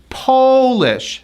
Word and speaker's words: polish: That O is pronounced like ah, mouth big, ah.